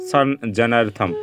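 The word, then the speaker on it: সংজ্ঞার্থং: যেখানে আছে কি গ্যারথম এটিকে আসলে আমরা সংস্কৃত উচ্চারণ কি করব সান জেনারথম তাহলে সান জেনারথম কিভাবে আসে আমি এবার সেটি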